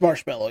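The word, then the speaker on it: Marshmello: Alex, can you pronounce this music person's names better than I can? Marshmallow? It's just Marshmallow, yeah.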